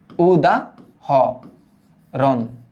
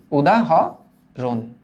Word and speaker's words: উদাহরণ: এই শব্দটা হচ্ছে হরণ, হারুন না কিন্তু, হরণ। ওকে, এবার এই শব্দটার উচ্চারণটা কি হবে তাহলে দেখো তো? উদা, উদা হ রন, উদা হ রন।